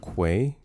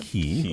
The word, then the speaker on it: quay: on a smaller area because it's pronounced quay. Uhhuh. Uh, say with me now. The Q. The Q. Quay. Yes. Quay, not key. Oh, who says key?